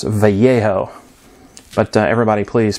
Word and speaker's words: Vallejo: that it matters but the Double L Sound in Spanish guys is pronounced like a y um but I'm not trying to correct anything anybody so it's vejo but everybody please pronounce